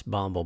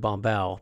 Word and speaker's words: Bumble: learned how to pronounce bumble by the way I would say what they saying David BOM Bell but I heard him say his own name on a video David bumble okay got it Paris